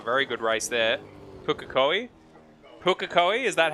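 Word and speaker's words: Pukekohe: him having a very good race there pukakoi pukakoi is that how it's pronounced thank you michael zalavari um sorry luke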